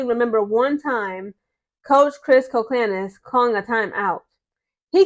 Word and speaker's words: Koclanes: Coach Chris Colclanis. That's how you pronounce his last name, Colclanis, not Colclains. I used to say that, sorry. His You pronounce his name as Chris Colclanis.